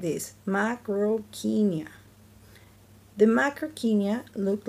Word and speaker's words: Macrauchenia: Macrauchenia. You say it like this, Macrauchenia.